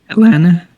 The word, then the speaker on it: Atlanta: lot of atlanta rap we don't pronounce the t's you can't don't pronounce the tease and then try saying it atlanta that's nice can't pronounce